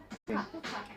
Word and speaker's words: hookah: Hookah. Yes. Hookah. Fu じゃなくて who.